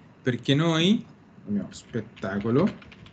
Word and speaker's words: spettacolo: Molte volte tendiamo a mettere una E fantasma, vero? Allora, sì. L'italiano è fatto apposta significa a proposito, in un certo modo. Io dico quello spettacolo perché così posso pronunciarlo come una sola cosa. E dire quello spettacolo. Se io lo pronuncio tutto insieme, quello che faccio è che la E fantasma non la dico mai.